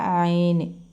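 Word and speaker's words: ع: ഒരു ഡോട്ട് ഇടുന്നത് ളാ എന്ന ശബ്ദമാണ് ഉച്ചരിക്കുന്നത് അതുകഴിഞ്ഞ് അയന് അത് അൻ എന്നേ നമുക്ക് എഴുതാൻ പറ്റും ഉച്ചരിക്കുന്ന നമ്മുടെ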